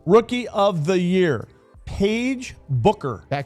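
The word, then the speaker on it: Beuker: Paige Booker. Beckers. Becker. So close. I keep getting It's B E U K E R. It's spelled a little differently, but sounds more like Booker.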